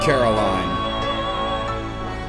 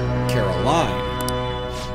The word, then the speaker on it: Caroline: inmates so your whose name would be Caroline not Carroll in his emphasis on the e so it's Caroline though it may be